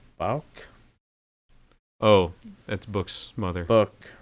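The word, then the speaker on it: Bouc: oh that's books mother book right oh yeah black books yeah it's pronounced book that's right uh she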